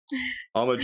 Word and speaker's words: homage: Homage. Pay him homage. Go pay your respects to the man, It's the legend. homage, the H is silent.